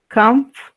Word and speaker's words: comfortable: Fíjense, este simbolito que está ahí, como una apóstrofe, ahí arriba, quiere decir que ahí es el acento, en esta primera sílaba. Comfortable, comfortable, comfortable.